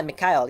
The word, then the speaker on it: McHale: friends Africa's name Mick McHale yeah McHale yeah that's how you pronounce it okay and makka